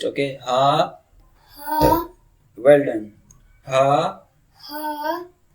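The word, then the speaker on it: ه: Makhraj of ha is lower throat. Speak ha. Ha. Speak and from chest, okay. Ha.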